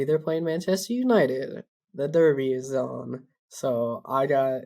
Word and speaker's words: Derby: that wait a minute is it Derby or Darby so it is Derby spelled with an E although everywhere I heard it pronounced both Darby or Derby either one uh I'm gonna find it I heard I gotta find I heard both of them yeah it just must be like a dialect like somebody from